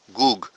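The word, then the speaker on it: Gog: جو ہے یہ گوگ، مجھے بتایا گیا تھا اس کا صحیح تلفظ ہے گوگ، کیونکہ عربی میں جوج کیوں کوئی گ نہیں ہے عربی میں، اس کو ج لکھا جاتا ہے جیم سے، لیکن اس کا صحیح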